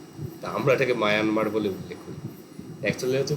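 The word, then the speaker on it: Myanmar: স্থবিরবাদ বা বিভাজ্যবাদ বহির্ভারতে প্রসারিত হয় এখনো শ্রীলঙ্কা মায়ানমার মায়ানমার আমরা বলি বটে কিন্তু একচুয়াল প্রোনাউন্সিয়েশন মিয়ানমার তো ওরা মানে আমরা যেমন মানে ভারতকে ইন্ডিয়া বলি ইংরেজিতে তো মিয়ানমার শব্দটা কাইন্ড অফ মানে ইংরেজি ভার্সন ওরা নিজেদের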